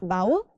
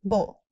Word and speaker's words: bowl: That woman is kind bowl. Not vowel. It's bull. Fill the bowl with soup.